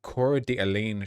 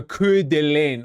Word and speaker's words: Coeur d'Alene: firemen off ladders in the inner cities is about the 2025 Coeur d'Alene shooting, by the way, where a Trump supporter in rural Idaho set a fire to lure firefighters and ambush them.